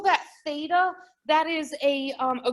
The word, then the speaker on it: theta: go a little thicker here um and we pronounce it theta my central angle is equal to one